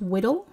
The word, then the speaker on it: WDL: description language called wdl which we pronounce widdle because it's easier to say and it rhymes with funny things so we're looking for